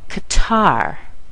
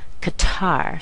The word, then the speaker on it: Qatar: you americanize this word you'll say C Qatar hear the Glide at the end Qatar so we have Japan